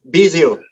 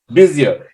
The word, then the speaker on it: Bisiot: do you say your last name ah bizio busier if you've not if you're not familiar with